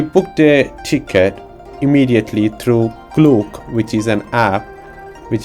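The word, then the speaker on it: Klook: children so we booked a ticket immediately through cluke which is an app which is commonly used in the Asian countries which is quite useful and it's spelled like k l o o k clo app which is which is quite good after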